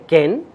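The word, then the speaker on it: כן: lo en en hebreo eh si se dice Ken ent Ya por lo menos tienen ahí dos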